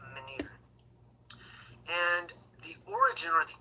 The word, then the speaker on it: menhir: I'm not sure exactly how to pronounce it, but I believe it's menhir.